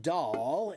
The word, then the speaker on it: doll: So when you say the word doll, I want you to think of the word uh when you see a cute baby, what do you do? You go a look at the cute baby. A doll. Doll is the same sound.